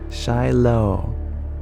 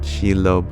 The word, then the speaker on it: Shiloh: working on my 23rd Shiloh is how one pronounces your name thank you I believe I pronounced it sheilo before so I appreciate